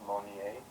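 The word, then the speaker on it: Monnier: your name I don't it's m o n n i e r i e r all right and it's pronounced mon a yes all right just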